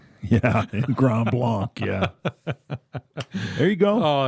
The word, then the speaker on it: Grand Blanc: okay go habs that's that's how they say it in gram long yeah grand blanc yeah there you go